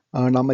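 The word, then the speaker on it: numb: நம்ம சின்ன வயசுல கட்டம் போட்டு நொண்டி விளையாடுவோம்ல, அந்த நொண்டி விளையாட்டுக்கு பேர் வந்து இங்கிலீஷ்ல ஹாப்ஸ்கேட்ச்.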